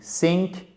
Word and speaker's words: think: c'est différent voyez ici là c'est différent d'ici think think sick donc ça c'est coulé au sens